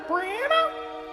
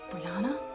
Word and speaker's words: Brianna: Oh, hi there, Brianna. Okay, first of all, it's Brianna. Why can't anyone say my name right?